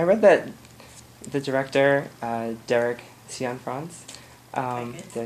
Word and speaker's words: Cianfrance: I read that the director, Derek Cianfrance, did I say it right?